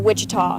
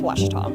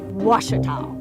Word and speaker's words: Ouachita: Back in Texas, everybody pronounces it Wichita, but really, it's Ouachita. Ouachita.